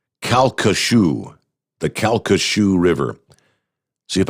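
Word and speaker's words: Calcasieu: Louisiana thank you Michael he said it is pronounced kashu the kashu river see if I can J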